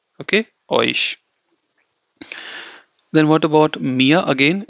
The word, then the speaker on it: mir: Again, it's, how do you say me, and then mia, Mia. Okay. Other way to think of this as, like, you just say mi, that is me. You don't pronounce the r part.